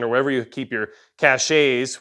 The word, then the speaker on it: cache: wherever you keep your caches, which we know is pronounced cache, but I like it better cache all along the route or anything like that towards your emergency relocation area.